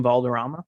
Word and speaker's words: Valderrama: i like to think that um will william valderron is that how i say his name william valderrama yeah yeah i like to think that he